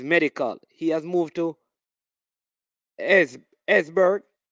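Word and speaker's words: Esbjerg: He has moved to Esberg. E-S-B-J-E-R-B. Esberg. I think the J is silent in it.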